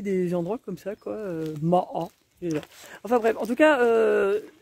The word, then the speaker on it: Maâ: qui s'appelle moliet et ma a je dis ma a parce que ça s'écrit M a et puis a accent circonflexe c'est vrai je trouve